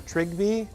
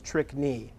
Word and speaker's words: Trygve: Acceptable mispronunciations of my name are Trygve, Trygve, and if you found me to be an indigenous person, you can also refer to me as Trickney.